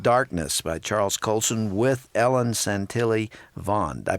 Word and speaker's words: Ellen Santilli Vaughn: It's called The Body Being Light in Darkness by Charles Colson with Ellen Santilli Vaughn. Did I pronounce her name correctly?